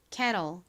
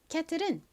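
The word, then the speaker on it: kettle: K는 키읔 소리 나고 E는 에 소리 나고요. TTLE는 till 소리 나죠. 미국식 원어 발음으로는 TTLE가 로 소리가 나니까 cattle이라고 발음합니다. 발음 연습해 볼게요. cattle, cattle.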